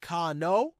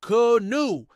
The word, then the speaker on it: canoe: The correct pronunciation is not canoe, but canoe, as in both the watercraft and the verb to canoe.